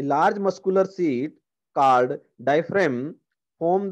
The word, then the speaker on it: diaphragm: DIAPHRAGM है यहाँ पे, तो जी की यहाँ पे प्रोनाउंसिएशन नहीं होगी, तो हम इसको कहेंगे डायफ्राम।